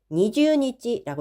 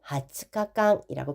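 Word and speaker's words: 二十日間: 1년에 20일 그러면 이지네니 니즈니찌라고 읽으면 안 되시는 거 아시죠? 일곱 하츠카깡이라고 표현해 주시면 되겠습니다.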